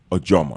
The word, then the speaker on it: Ojomo: My Instagram name is Joseph Ojomo. Just call my name. You'll see my Joseph Ojomo. So it's pronounced Ojomo.